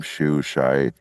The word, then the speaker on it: Shou: But, you know, again, I don't think anybody can replace Robin what's his his pronounced last name? Shoo shai? Robin Shou, yeah. Shou, yeah.